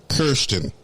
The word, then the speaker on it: Karsten: oh cool and uh but it's spelled k-a-r-s-t-e-n so i kept saying karsten no and he's like it's kirsten and i'm like okay karsten no it's kirsten and i'm like i